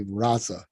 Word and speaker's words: raza: The Spanish pronunciation today say raza, but it was reza.